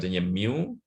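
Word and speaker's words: μ: Nah, mu ini bacanya mu, notasinya seperti ini, ya.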